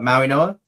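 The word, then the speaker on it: Mauigoa: Uh Maui Noa?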